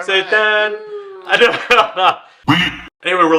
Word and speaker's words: Seitan: You said it right, Seitan.